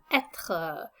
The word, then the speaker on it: être: The second topic is going to be le verbe être. So try to pronounce that one after me. Être. You're going to hear that kind of strong sounding R in the second syllable.